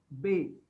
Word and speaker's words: ve: Now V is pronounced as Bay.